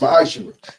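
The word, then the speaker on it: מעשר: Means 10th in Hebrew and it's pronounced ma'ashir.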